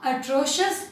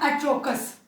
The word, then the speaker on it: atrocious: अगली बार बोलना हो very bad, go for atrocious and disgusting. Remember the pronunciations, it's atrocious, not atrocous. Be careful about that.